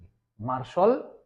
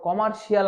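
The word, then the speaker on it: commercial: এটাই মনে সঠিক উচ্চারণ আমরা করেছি আর কি, মার্শাল ল। তারপর কমার্শিয়াল আমরা উচ্চারণ করি, কমার্শিয়াল ব্যাংক, কমার্শিয়াল স্পেস, এরকম আমরা বলে থাকি।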